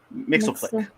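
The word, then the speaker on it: Mxyzptlk: Nixflick. Mixelick. Mixflick.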